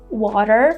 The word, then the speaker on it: water: So to make this sound, you just need to tap quickly on your gum ridge with the tip of your tongue. Water, water. It's something between the D sound and the R sound.